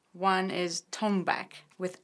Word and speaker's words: Tonbak: percussion instruments of Persian music and it's called tone back tio and bak that's how we pronounce it tone back some people pronounce that